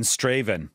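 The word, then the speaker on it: Strathaven: In Straven. Well done, Adam. That is a place in Scotland that many English people mispronounce.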